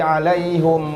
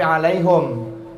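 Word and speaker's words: عليهم: Ada nanti ghairil maghdubi alaihim waladdallin. Bukan alaihim, tapi alaihum.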